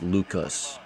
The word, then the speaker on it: Lukes: 1-2 on Nathan Lukes. This is the Rays-Jays game I'm watching right now. Swing and a miss, you bum. 2 away. Thank you, Sebastian. Last name is pronounced Lucas. Oh, my bad. My bad.